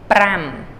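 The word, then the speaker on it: ប្រាំ: music Majors out there reminds you the word Bram the composer Bram a couple differences the B is the same this has to be enrolled R Prime okay so just roll your R the composer Bram this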